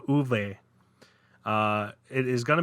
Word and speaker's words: Ove: free ones uh and I pronounced the name wrong completely it's uve not ove and ill-tempered isolated retiree